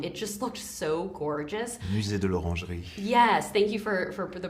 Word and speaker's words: Musée de l'Orangerie: Musée de l'Orangerie. Yes, thank you for the pronunciation of it.